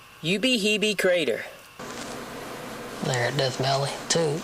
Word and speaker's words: Ubehebe: death belly two checked out the crater it's pronounced you be heeby you be heavy you be heebie crater there death belly two checked out the